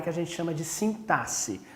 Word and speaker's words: sintaxe: a gente chama de sintaxe a gente escreve com x mas pronuncia com um som de s ok é a sintaxe por essa área da